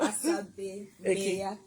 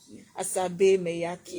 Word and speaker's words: Asabe Maiyaki: Oh, yeah, pronounce your name it's now. Asabe Maiyaki. Asabe Maiyaki.